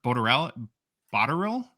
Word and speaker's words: Botterill: 2 female players, Jennifer Botterill from Canada.